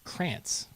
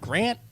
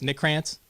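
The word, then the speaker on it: Crantz: never get it right they're like grant grants this that the other thing they spell it with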